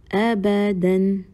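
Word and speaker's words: أبداً: Also, one thing that is to be noted here is the letter alif after the dal fathatan. So this letter alif is a silent letter. So we are not going to read the letter alif, which is after dal fathatan.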